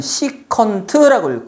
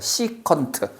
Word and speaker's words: 시컨트: 겁니다 그다음 코사인의 역수는 s c 세라고 쓰고 이걸 우리는 시컨트를 거야 시컨트 시컨트 그리고요 사인의 역수는